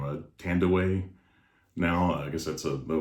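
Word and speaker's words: Thandiwe: ago with vin diesel and she she actually pronounces her name uh tandaway now i guess that's the way it's supposed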